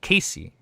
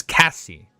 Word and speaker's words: Cassie: It's not Casey. It's Cassie. Cassie. Cassia. Cass. Silent S. Cass.